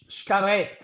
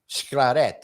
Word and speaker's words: Xcaret: How do you pronounce that word? Xcaret. Xcaret.